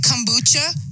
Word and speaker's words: kombucha: embarrassed if i'm saying it wrong is it kombucha is it right that's perfect yeah now